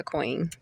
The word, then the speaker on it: Qween: It's pronounced, right? It's Queen, but I go by Queen.